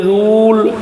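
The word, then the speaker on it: rule: जैसे आर यू एन रूल। अब रूल में लास्ट में इ आया इसका उच्चारण नहीं हुआ है।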